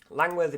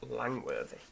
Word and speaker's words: Langworthy: Langworthy Park. Good effort game, but it is just Langworthy.